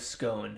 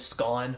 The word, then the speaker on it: Scone: of the stone of scone uh I wish that was the real pronunciation it really show it's really Stone of scone which is kind of Less Fun but uh so this is